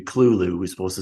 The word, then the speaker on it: Cthulhu: You know, even pronounces his name correctly. It's supposed to be Cthulhu.